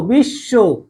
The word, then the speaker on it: বিশ্ব: এই বিশ্ব শব্দটা আমরা উচ্চারণ করেছিলাম এইভাবে, বি সহকারে শো, বিশ্ব, তাই না? এই যে বফলা থাকার কারণে কি হয়ে গেছিল, তালিবস্য দুইবার উচ্চারণ হচ্ছে।